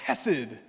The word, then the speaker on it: chesed: It's the word chesed. That's how you say it in Hebrew.